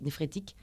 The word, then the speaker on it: néphrétique: Néphrétique, comme les nappes phréatiques.